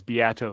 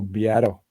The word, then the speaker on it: Beato: Matt mentioned that his name is Beato. He's right. Oh, Beato. Well, I was too busy talking to Dale E. Yeah, right. Who am I to talk? I had the wrong emphasis on the wrong syllable.